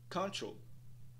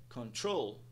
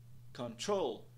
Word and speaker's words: control: da palavra Saria como control control control nada disso pessoal a pronúncia da palavra é control control control com o stress na segunda sílaba August August se de